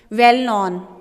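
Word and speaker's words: well-known: famous का क्या है वेल नॉन के इसमें साइलेंट होगा इसको वेल्नोन करेंगे ठीक है अ सिलेक्शन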